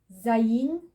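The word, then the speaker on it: ז: Zayin, z, z.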